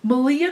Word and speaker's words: Malia: Malia comes up, who is Rhymes with Maria, who had a podcast briefly.